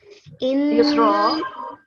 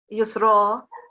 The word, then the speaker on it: يسرا: Because again, we've got fatha, it's fatha tanween, but it converts into a vertical fatha. So it's still a fatha and you would pronounce it with a round mouth. So it will be Yusra.